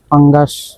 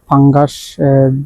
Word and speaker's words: পাঙ্গাস: দেখতে পারছেন এখানে ফাঙ্গাস মাছ যাকে বলা হয় পাঙ্গাস এবং ফাঙ্গাস দুটোই উচ্চারণ হয় এবং এই অমত অবস্থায় আমরা দেখানোর চেষ্টা করছি।